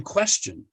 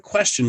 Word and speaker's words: question: In the word question, what's the base? Quest. You can't say that because you don't say quest in question, you say quest. The pronunciation of the base is not question, it's question. Right?